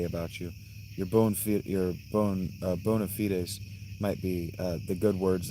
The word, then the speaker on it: bona fide: And yeah, it's not bona fide. That's a Latin phrase. It's pronounced bona fide.